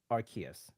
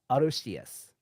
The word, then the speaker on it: Arceus: here's the kicker right the japanese name is actually arushius which sounds more like arceus and the only reason